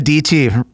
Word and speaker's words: Dietschy: all right Sarah Sarah DT rhymes with PT stuck in my head